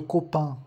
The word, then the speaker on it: copains: De coussin, le copain, la copine, deux copains, o S do plural não se pronuncia.